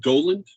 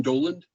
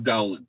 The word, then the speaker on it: Dowland: john dowland d-o-w-l-a-n-d uh the book makes the point that it's pronounced doland doland john doland and uh but everybody says dowling so for what it's